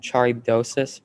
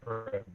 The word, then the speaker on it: Charybdis: Scylla, and Charybdosis, final answer. I'm sorry, that's incorrect. Scylla and Charybdis. It was Scylla and Charybdis.